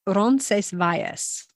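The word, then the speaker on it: Roncesvalles: say ronas spell um the Spanish pronunciation is is rones vas rones vas yeah they say it much faster but to break it down Ron Vias Andrea speaks Spanish so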